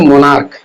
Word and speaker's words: monarch: जैसे मोनार्क, MONARCH, मोनार्क का उच्चारण होता है, तो उसमें भी लास्ट में S जुटेगा।